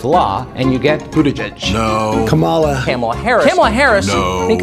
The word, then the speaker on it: Kamala: officially pronounce her name karma kamala harris karma chameleon carton of milk no kabala harris no camel toe maybe caramel corn no like a comma like the punctuation just combine comma with law and you